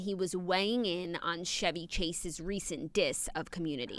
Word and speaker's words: Chevy: Chevy Chase Chevy yeah his name spelled Chevy it's Chevy okay well Chevrolet has co-opted the name Chevy Chase I'm obsessed don't make fun of me from pronunciations because I learned it by reading it no and it's confusing like a Chevy is a car so but Chevy right so Chevy Chase recently